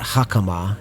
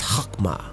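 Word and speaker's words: חכמה: It's not hakama, it's hakma for wisdom, right?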